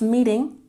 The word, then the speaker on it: meeting: When we pronounce meeting, put the emphasis on the first syllable.